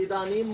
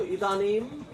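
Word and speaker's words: इदानीम्: इदानीम मतलब इस समय, पढ़ो इदानीम, इदानीम इस समय।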